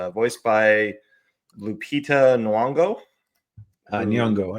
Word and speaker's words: Nyong'o: Who Nyong'o, I think is how you say Nyong'o. it. Okay, thank you. Nyong'o.